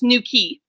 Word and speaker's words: Newquay: A place called Newquay, which is spelled Newquay for those of us who are not from England, but it's Newquay.